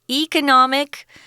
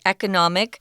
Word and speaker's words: economic: Both those pronunciations are correct, guys. Economic. That's your KK pronunciation. I tend to say economic.